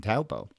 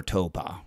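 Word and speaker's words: Taupō: Championships in New Zealand in Taupo, or Toba, remember, we have a couple of different ways of pronouncing that.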